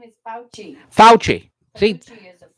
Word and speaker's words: Fauci: So what's that pronunciation one more time? Fauci. It's Fauci.